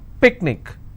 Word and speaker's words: picnic: will stress on ma picnic i will stress on pick let me bring this